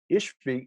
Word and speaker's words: Ishbi: ishbi ben ove because the bee in hebrew is actually pronounced like a v in english so ishbi would be